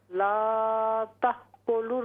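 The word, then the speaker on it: تأكلوا: या अय्युहल्लज़ीना आमनू ला तअकुलुर रिबा दोबारा पढ़ें, ला तअकुलुर, ला तअकुलुर रिबा। ये ला तअकुलुर रिबा, वाव जो है वाव साइलेंट है, ठीक है ना, ये वाव नहीं पढ़ेंगे हम, वाव के बाद अलिफ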